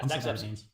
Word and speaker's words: Zagzebski: Yeah, Zagzebski.